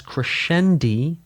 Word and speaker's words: crescendi: It's technically to corre It is technically correct to pronounce multiples of crescendo as crescendi and multiples of diminuendo as diminuendi. This is because in Italian words that are plural usually end with an i like spaetto to spaghetti.